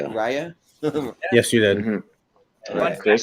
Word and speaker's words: Raya: Raya?